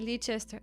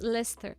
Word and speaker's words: Leicester: Why am I pronouncing it Leester?